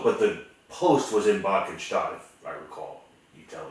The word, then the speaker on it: Bad Cannstatt: Which was Bad Cannstatt, which was Schwäbisch Gmünd. Huh? You lived in Schwäbisch Gmünd, right? Yeah. And the post I thought was in Bad Cannstatt.